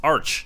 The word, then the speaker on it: Arch: corrected me and said it's Arch not Arc so I'm trying to